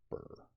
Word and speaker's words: bier: Sorry, it's pronounced burr.